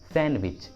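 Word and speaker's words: sandwich: Silent D का second rule होता है, कुछ कॉमन वर्ड्स के साथ डी को प्रोनाउंस नहीं करते, डी साइलेंट होता है। For example handkerchief, handkerchief, handkerchief, handsome, handsome, handsome, सैंडविच, सैंडविच, सैंडविच, Wednesday, Wednesday. देखिए इन सभी वर्ड्स में डी साइलेंट है, डी का उच्चारण नहीं किया गया है।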